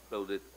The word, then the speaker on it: Claudette: Claudete, ¿se pronuncia Claudette? Así es. Claudette.